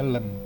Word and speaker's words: ln: Kalau kamu cari inverse-nya, dia tulisannya ln. Tapi di sini tulisnya Len. Kalau di kalkulator dia tulisnya gini. IN bacanya. Itu adalah Len, ya.